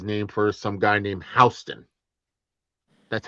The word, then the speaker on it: Houston: Well, in New York, you have Houston Street, but down in Texas, you have Houston. Yeah. Spelt the exact same way.